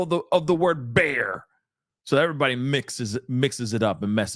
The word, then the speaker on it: Bexar: that's how it says bear that's how it's pronounced my bad sorry about that guys bear it just says back b e x a r you know what I